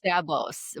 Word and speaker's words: Szabo: What about So, Sabos, but it's spelled S Zabo.